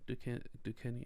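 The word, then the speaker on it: Duquesne: Are you seeing the Yeah, S is silent? It can be silent. Yeah, Ducaney.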